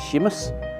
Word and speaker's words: Seamus: In one of the verses in the Walker poem, Sarah uses the Irish form of James Seamus to get a rhyme with famous.